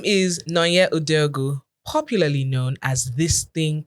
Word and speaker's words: Nonye Udeogu: Nonye Udeogu. Okay. Her name is Nonye Udeogu, popularly known as this thing called fashion.